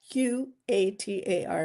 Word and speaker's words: Qatar: Q A T A R everybody pronounce it differently. I say Qatar.